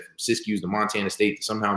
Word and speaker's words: Siskiyou: Is that how you pronounce it? Siskiyou, yeah.